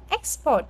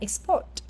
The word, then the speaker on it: export: không ở dưới nha khi đóng vai trò là danh từ sự xuất khẩu hoặc là việc xuất khẩu Chúng ta đọc là âm nhất export Còn khi là verb thì là export kiến thức casic thuộc